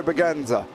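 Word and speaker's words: Bragança: well yeah I'm writing that down now Pedro baganza right thank you Michelle there as well is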